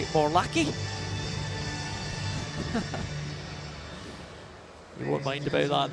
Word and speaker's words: Morlacchi: Giving us a hard time about pronouncing his name as Morlacci when it is actually Morlacci.